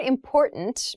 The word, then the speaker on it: important: important so the word important means something that we need to consider carefully yes the pronunciation of this word that first t is actually reduced it sounds more like a d in fast speech water is important to